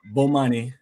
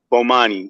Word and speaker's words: Bomani: brother but how do you say your name Bomani Bomani and uh I look forward to you know